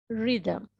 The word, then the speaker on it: rhythm: What, when, why, which, whether, ghost, honest, hour, while, white, where, rhythm, right?